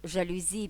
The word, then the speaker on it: жалюзі: псевдонім маркетинг Марк вивчає маркетинг а слова граблі жалюзі піалати чи я ціник так і просяться в